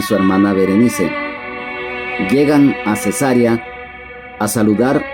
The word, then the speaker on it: Berenice: Berenice. Este nombre también en el idioma español se puede pronunciar Vereniz, pero eh su raíz